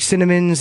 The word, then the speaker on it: Sinnamin: out, like with Cinnamon's, even though it's spelled SINNAMIN, as I'm fond of saying, there's sin in my name, but not in my heart.